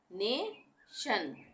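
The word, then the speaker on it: nation: उसको हम शन पढ़ेंगे यानी टी आई ओ एन बन गया शन जैसे यह है एस ई सी सेक उसके बाद शन टी आई य एन शन सेक्शन नेशन मोशन इन इमेशन ठीक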